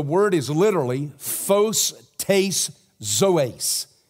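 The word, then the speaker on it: ζωῆς: In the Greek, the word is literally phos tais zoes. It's lyrical. It rhymes. Phos, photograph. Zoes, zoology, life.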